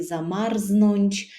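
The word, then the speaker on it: zamarznąć: єжоро замарзво єжоро замарзво запам'ятайте собі що у слові замарзнонч рзт читається не як двузнак а як два окремих звуки морозно холодно прохолодно перекладемо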